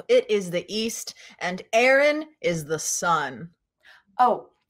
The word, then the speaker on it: Erin: is the east and aaron is the sun oh actually my name is spelt e-r-i-n not a-a-r-o-n but they do sound the same kind of like a homophone thanks for joining me